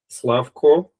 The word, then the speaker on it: Slavko: Slavco, is it the correct way to pronounce?